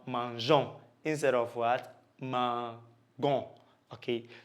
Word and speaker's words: mangeons: You bring a silent E before the ONS to make it sound mangeons instead of what?